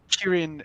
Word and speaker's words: Kirin: Kirin is the Japanese pronunciation.